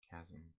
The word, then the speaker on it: chasm: Did you just pronounce the H in chasm? Chasm.